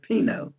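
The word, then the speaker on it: πίνω: But the Greek word for devour is actually from the root word, and I can pronounce this word pino, P-I-N-O, which really doesn't mean to devour at all.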